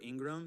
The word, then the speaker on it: Ingraham: a h a m I always say I in and then the word Graham like graham cracker um my email